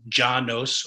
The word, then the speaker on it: Llanos: the janus which yeah you can pronounce it ja nos or janos it is this purple